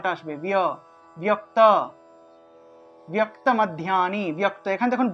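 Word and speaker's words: মধ্যানি: এর সাথে জ ফলা ঠিক একইভাবে মাধ্যানী মাদ মাধ্যানী এভাবে মাধ্যানী মাধ্যানী এভাবে এক শর্ত উচ্চারণ করতে হবে ধ্যান শব্দটা ধিয়া শব্দটা একসাথে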